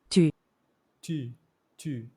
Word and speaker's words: tu: Tu. Tu, tu. The oo is a little bit more like tu, tu.